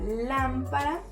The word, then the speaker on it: lámpara: Lámpara está tildada y es una palabra esdrújula. ¿Y cómo lo sabemos? Pues si dividimos nosotros nuestras palabras en sílabas, pues vamos a ver que acá tenemos lámpara. Entonces sería última, penúltima, antepenúltima, ¿sí?